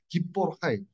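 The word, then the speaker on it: גִּבּוֹר חַיִל: 그 우리나라에는 이 발음이 없습니다. 헤이와 다르게 헤트는 그 독일어의 하고 똑같아요. 하이. 기뽀르 하이.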